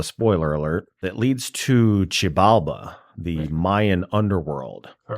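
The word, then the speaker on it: Xibalba: There is a portal within Sleepy Hollows and maybe bit of a spoiler alert that leads to Chibala, the Mayan underworld.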